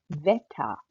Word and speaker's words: Wetter: यहाँ पर आप देख सकते हैं कि जो जर्मन W है वो इंग्लिश के V की तरह प्रोनाउंस हुआ जाता है. यानी कि यहाँ पे आप इसको बोलेंगे Wolke, Wetter.